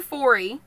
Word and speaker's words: Foree: So, Dr. Forey, and it's spelled Foree, just so you know what I'm saying, Dr.